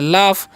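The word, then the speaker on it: laugh: आगे लिखा हुआ है एल ए यू जी एच। तो इसे हम क्या पढ़ते हैं? इसे हम लोग पढ़ते हैं लाफ।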